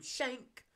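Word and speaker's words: Schenk: And the movie ended on a cliffhanger with a new jigsaw killer, William Shank, even though it isn't spelled like that, escaping.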